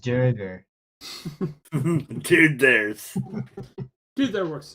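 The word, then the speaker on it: Duergar: It's pronounced Durger.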